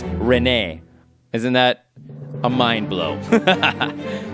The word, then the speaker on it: Rene: Have you always pronounced it Rene? Rene Figaro? Sabin Rene Figaro? Sabin Rene Figaro? Well, I also pronounced it Rene, but check it out. In Japanese, it's Rene.